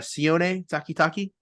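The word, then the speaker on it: Sione Takitaki: well how do you say his name again c takitaki yeah C takitaki has an interception Maurice Hurst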